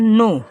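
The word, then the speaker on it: know: ओड मतलब होता है नो क्या पढ़ेंगे इसको जो के है ये साइलेंट होता है क्या होता है साथियों नो ठीक है साइलेंट होता है इसको पढ़ेंगे नो अब नो मतलब होता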